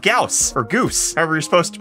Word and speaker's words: Gauss: It's called Gauss or Goose. However you're supposed to pronounce that. Gauss.